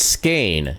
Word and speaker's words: skein: Apparently, I'm wrong. Okay, it's Skane is how it's pronounced, apparently.